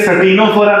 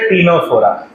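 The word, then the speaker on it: Ctenophora: चौथा टीनो फोरा अच्छा ये सनोरा नहीं है सी साइलेंट टीनो फरा पांचवा प्लेटी हेमस फिर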